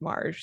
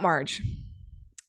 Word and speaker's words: Marj: Marge is reminding me her name is pronounced like March thank you for that all right so about Marge Marge is a freelance